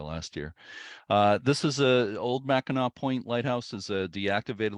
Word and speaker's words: Mackinac: the podcast, I said Mackinac, and somebody immediately emailed me and said, it's not Mackinac, you whatever. It's Mhm. Mackinac. Doesn't matter if there's a W or C at the end, it's pronounced Mackinac.